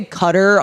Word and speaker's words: Qatar: doha which is in qatar is how i don't they say cutter on games like sports games and i'm like just cut that or just say it like that it sounds better but um so it's